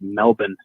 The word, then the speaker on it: Melbourne: out there in australia the australians themselves pronounce it melbourne melbourne melbourne and the guy